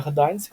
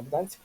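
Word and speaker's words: Gdańsk: Это город, да, как я говорил, Гданьск. Ээ, на севере не Гданьск, да, именно Гданьск.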